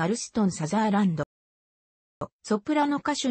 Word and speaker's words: サザーランド: 出身のソプラノ歌手なお生の発音は最初のさにイントネーションを置いたサザーランドが適切であるがここでは